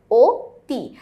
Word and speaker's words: অতি: আমরা জানি অতি শব্দের সঠিক উচ্চারণে হচ্ছে ওতি। কারণ হচ্ছে এখানে রস্বীকার আছে সেই কারণে।